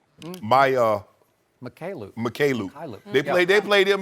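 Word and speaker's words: Mykhailiuk: Mikhailuk.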